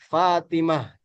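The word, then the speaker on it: فاطمة: Tamar buto ini ketika ee dia wakaf dibacanya dia jadi ha Fatimah Aminah Makkah begitu ya.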